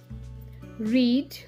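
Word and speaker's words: read: रीड, रेड, रेड, रीडिंग. आता इथे तुम्ही लक्षात घ्यायचंय, इथे रीडचं स्पेलिंग तिन्ही ठिकाणी सारखं आहे, पण उच्चार मात्र वेगळा आहे.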